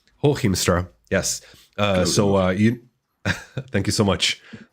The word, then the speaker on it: Hooghiemstra: So, drum roll, the secret phrase for today is going to be, I'm not pronouncing it again. Say it, Walter. Hooghiemstra. Hooghiemstra.